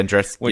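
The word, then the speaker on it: Andreescu: How do you pronounce her name? Andruski or Andreski? Yeah, Andruski.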